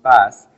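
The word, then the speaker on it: PaaS: a service pronounce SAS platform as a service pronounce pass and infrastructure as a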